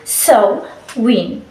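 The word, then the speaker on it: Samhain: Halloween is an adaptation of so a world pronounce it so wi nowadays Halloween is just a festival season where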